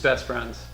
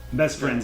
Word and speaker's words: Best F(r)iends: how do we pretty it's just best friends best friends because the are is